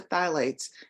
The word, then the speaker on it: phthalates: And then we have those phthalates, It's spelled PHTHALATES.